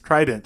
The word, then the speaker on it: Trident: is it called Trident and it's two syllables Trident shows its latin roots the first syllable try three as in three enzymes combines with dent teeth to give us Trident Trident had developed three